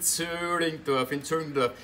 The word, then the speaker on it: Zillingdorf: In Zöllingdorf, haben wir da immer viel Theater gespielt. Zöllingdorf schreibt man mit I, sagen tut man Ü, so wie Zwiegewitz, schreibt man nämlich mit 3 T.